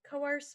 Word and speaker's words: coerce: is coerce coerce and coerce means to threaten somebody into doing something so to remember it you could say the chorus class tried to coerce us into attending their performance the chorus class try